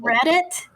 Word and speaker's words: Reddit: What's the website called Reddit. Reddit, like it's spelled READIT. Like I read that. Like I read it.